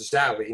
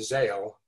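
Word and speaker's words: horrid sallow: and the horrid sally that is pronounced sally not zale has this uh mysterious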